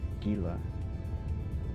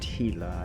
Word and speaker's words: Gila: specific Gila. Yes, I know it's pronounced Gila. I don't care. I'm from America. We pronounce our G's with a G.